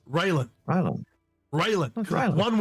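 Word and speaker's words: Railen: It's Raelin.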